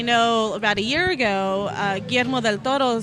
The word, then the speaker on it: Guillermo del Toro: Because I pronounce it correctly. Yeah. Guillermo del Toro.